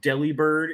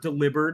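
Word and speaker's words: Delibird: video like about like it's not supposed to be pronounced Deli bird it's supposed to be pronounced deliber because it's like a bird that carries the mail I don't even think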